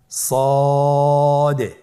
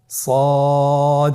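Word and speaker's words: ص: মোটা হরফ উচ্চারণ ক্ষেত্রে মোটা করে পড়তে হবে এবং উচ্চারণ করার সময় তিন আলিফ টেনে পড়তে হবে। আপনারা আমার সাথে বলুন সদ আবার বলুন সদ আলহামদুলিল্লাহ।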